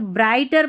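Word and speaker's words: brighter: ये जो जी एच है ना यह साइलेंट है। तो ब्राइटर पढ़ना है।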